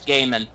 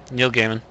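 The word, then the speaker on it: Gaiman: an interview with him so pronunciation GE e i m n g EI I long a s it's G okay it's G long a is in base so it's gaim yeah it's Neil gimon I I've been right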